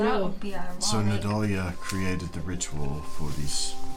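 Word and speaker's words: Nidalia: I-A. Nadalia. Leah. Not Nadala.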